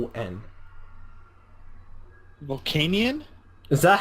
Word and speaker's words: Volcanion: I know it's spelled Volcanion. Volcanion?